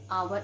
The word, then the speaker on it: hour: begin with the children edge and where it is silent okay yeah then i met a i met him an hour ago we never say i met him and